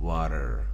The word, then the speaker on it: water: به پشت لثه ها میزنیم و حرف آر تلفظ میکنیم. water water.